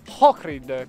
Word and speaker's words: Ohrid: finalmente la città di Ohrid, che si scrive con l'H ma si legge col cr o H-R-I-D. Giusto, sì, perché hai detto Ohrid invece Ohrid. Ohrid. Vabbè, si legge con la C.